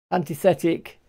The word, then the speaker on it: Antithetic: Antithetic, that's how it's pronounced.